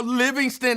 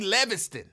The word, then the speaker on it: Livingston: And exactly how Livingston is spelled. L-I-V is not Lev. In I don't think any language Livingston would be Leviston.